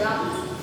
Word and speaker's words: wrung: The pronunciation is wrung.